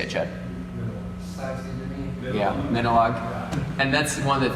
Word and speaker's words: Minilogue: Yeah, Minilogue. And that's one of the things with the synth world is all the names are weird. You just kind of say whatever. So it's Minilogue, Moog, Moog.